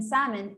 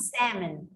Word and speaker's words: salmon: that yeah the the elf in in salmon is totally silent so it's not salmon yes salmon all right very good lemon